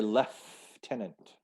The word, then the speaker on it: lieutenant: pronounced differently um in canadian british we say lef tenent lieutenant yeah i don't know why there's an f sound in there we'll say lieutenant and